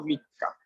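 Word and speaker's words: 三日: O sea, que si yo quiero decir que yo nací el 3 de tal mes, yo ese 3 no lo leo San, sino que lo digo Mika.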